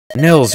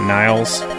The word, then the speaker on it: Nils: I think we're good Nils you're awake it is Nils right it's not Niles okay guys how do